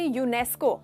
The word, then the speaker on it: UNESCO: ये देख रहे हो हम ऐसे नहीं कह रहे UNESCO, ऐसे करके नहीं कह रहे, आप एक वर्ड में कह रहे हो, उस वर्ड को जैसे प्रोनाउंस करके कह रहे हो, प्रोनाउंस कर रहे हो, इसीलिए उसके आगे आर्टिकल नहीं लगेगा।